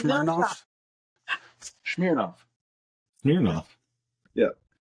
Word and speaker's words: Smirnoff: Well, I need you to tell me how to pronounce this vodka's name. Smirnoff. It's Mersh. It's Mersh. No, it's off. not. Smirnoff. It's Smirnoff.